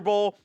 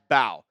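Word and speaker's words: Mbow: Marcus, I believe it's Bow. I think the M is silent. Marcus Bow from Purdue.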